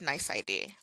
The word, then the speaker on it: NYC.ID: every contact needs a nice ID it's spelled nyc.id but it's pronounced nice ID a nice ID is